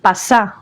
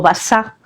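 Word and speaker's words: basha: Pues basa es pasá o basá porque los árabes el sonido P no se pronuncia. Entonces, en vez de pasá o es basá, que es ese título que tenían los otomanos.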